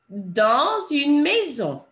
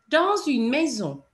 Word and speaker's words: dans une maison: And normally, as you know, we don't pronounce the last letter of a word, but in this instance, because the S runs into a vowel, you would hear it.